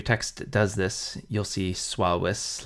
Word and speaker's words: suavis: And this sometimes holds for U following an S or a G, like suavis customarily has two syllables, not three.